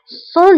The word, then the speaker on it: sans: Sans doute. Sans doute. Sans doute. بلا شك. Le doute هو شك. Sans doute. Le doute هو شك. وبالنسبة للسان فكنكتبوها بأس آخر الكلمة ولكنها لا تنطق.